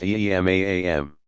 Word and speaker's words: Imam: Among the principal features that distinguish Shi'i from Sunni tradition is the belief that a legitimate successor to leadership, called Imam, pronounced Imam, must be designated by his predecessor and belong to the family of the Prophet.